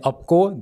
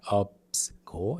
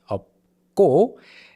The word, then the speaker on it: 없고: 마 plus 니은 carrying over to the next syllable, 많이. And then 없고, this 시옷 in up is silent here, and then 비읍 and 기역 together, it becomes 없고, okay? It's not 없고, it's 없고.